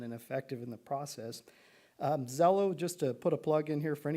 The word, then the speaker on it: Xello: Zello, just to put a plug in here for any parent listening tonight, if you have a chance to talk to your student about Zello, it's spelled Xello.